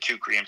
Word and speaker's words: Teucrium: Teucrium.